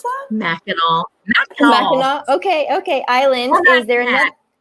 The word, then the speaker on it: Mackinac: So besides your love for visiting, how do you pronounce that? Mackinac.